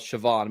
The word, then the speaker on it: Shavon Revel: Looks like it's spelled Shavon, but it's actually Shavon Revel from East Carolina.